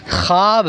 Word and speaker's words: خواب: خواب پڑھتے ہیں، حالانکہ اس کا صحیح تلفظ خواب ہے۔ کیا ہے؟ خواب۔ یہاں پر واو لکھی جائے گی لیکن پڑھی نہیں جائے گی۔ خواجہ غلط ہے، خواجہ